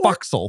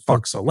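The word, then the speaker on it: fo'c's'le: s apostrophe l e which is sort of pronounced foxel or or sometimes they spell it for castle but you still pronounce it fauxil.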